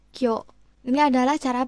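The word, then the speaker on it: 今日: Jadi bukan konyichi tapi dia akan menjadi koyo.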